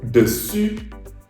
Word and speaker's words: dessus: And that's why I dug deeper and found out that I mispronounced the U letter for a very long time. So, dessus, dessous, dessus, dessous.